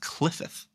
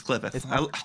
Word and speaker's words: Qliphoth: It is pronounced Qliphoth. Is it Qliphoth? It's Qliphoth.